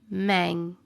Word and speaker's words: Hmong: The H is silent. Mang.